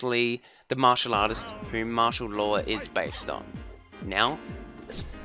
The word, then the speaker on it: Marshall Law: It was reportedly supposed to be a pun on martial arts, as in martial, and martial as in the name, martial as in... Anyway, which is pronounced the same way.